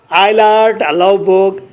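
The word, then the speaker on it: Eilert Løvborg: You know आइलर्ट, लेवबोग, आइलर्ट, जे को साइलेंट कर आइलर्ट कहना है, आइलर्ट जे साइलेंट, आइलर्ट लेवबोग, आर को साइलेंट करना है बोग के, लोवबोग, आइलर्ट लेवबोग, मेरे साथ कहें आइलर्ट लेवबोग, आइलर्ट लेवबोग, आइलर्ट लेवबोग।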